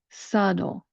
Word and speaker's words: subtle: That's how I pronounce that second syllable. Now let's put it all together. Subtle, subtle.